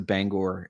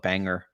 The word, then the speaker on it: Bangor: I guess we PR I guess pretty consistently we pronounce it Bangor uh in in Maine but out of Staters will come in and call it Banger or things like that yeah probably would do